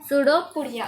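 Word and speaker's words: pseudopodia: उसमें उसका स्पेलिंग होता है PSUDOPODIA, सूडोपोडिया। उसमें P जो है वो साइलेंट है, तो फिर इसको पढ़ेंगे तो सूडोपोडिया।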